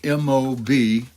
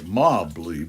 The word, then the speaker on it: Mobley: or write it down and Fred Mobley spelled m-o-b-l-e-y you know you might think it's like Mobly but he pronounces it Mobley and these are prayers Walter